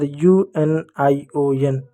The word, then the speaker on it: union: जब अंग्रेजी के किसी भी शब्द के स्टार्ट में यू आए और यू के बाद एक कॉन्सोनेंट हो और उसके बाद एक वेवल हो, तो वहाँ पर यू को यू पढ़ेंगे।